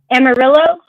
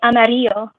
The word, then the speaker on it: Amarillo: some are Spanish like everybody says Amarillo but the city's name is technically it's actually Amaro did you know that you have to know that again everybody says Amaro but the the name of the town is actually amario which means yellow oh why everybody calls